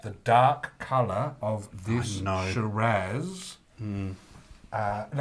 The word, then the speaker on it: Shiraz: dark color of this shiraz uh and i'm saying shiraz because i say shiraz some people say shiraz but um i figure